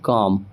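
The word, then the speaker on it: calm: उसके बाद देखिए सी ए एल एम रूल क्या कहता है कि अगर एम से पहले रहेगा एल तो वहां पर भी एल साइलेंट हो जाएगा तो हम इसे एल को नहीं पढ़ने वाले हैं सी ए एल एम हम सीधे पढ़ेंगे कॉम ठीक है उसी तरीके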